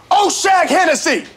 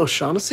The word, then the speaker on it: O'Shaughnessy: Oshag Hennessy! Principal O'Shaughnessy?